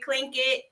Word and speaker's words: Clinkitt: So we went with Clinkitt. Kid. Rhymes with drink it.